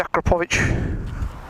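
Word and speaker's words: Akrapovič: of things really annoy me we've got the aqua pooch that's how you pronounce it count on it I do like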